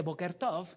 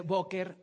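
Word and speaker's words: בוקר טוב: le dice boker tov no no se dice boker tov se dice booker ahora que significa que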